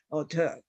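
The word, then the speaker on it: auteur: would call this person auter and that t would usually be pronounced as D and we have besiege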